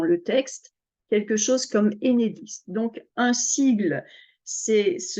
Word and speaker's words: Enedis: c'est un sigle et enedis comme si c'était un mot on ne dit pas